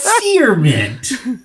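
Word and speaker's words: cerement: yeah but you don't you don't pronounce the c like the hard k sound it's it's an s man it's okay c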